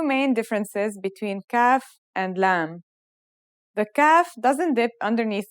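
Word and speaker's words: ل: The lam sounds like the English L.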